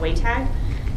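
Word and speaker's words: WATG: speak to that so it kind of has a funny looking pronunciation it's called way tag because there's a like a the and with the lower a and between the T and G so the annual way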